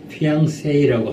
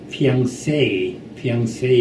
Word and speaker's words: fiancé: 가령 약혼자를 fiancé라고 하지 않습니까? fiancé, 둘째 음절에 앙 하는 둘째 음절에 액센트가 있는데 이 중류 사람들은 액센트를 셋째 음절에 세이에다 넣습니다. 그 피앙세이 이렇게 말하는데 그건 사실 그 틀렸는